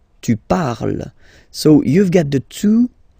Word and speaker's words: parle: And the last one, so even if you've got this ent, well, don't hate me, but you won't pronounce these letters, okay? You have to write them for the plural form, but you don't pronounce them, so you get il parle, elle parle.